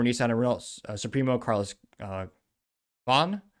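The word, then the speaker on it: Ghosn: and supro Carlos uh Bon which actually how you pronounce it properly I read his book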